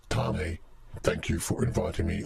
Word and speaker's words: Tane: It's pronounced Tane.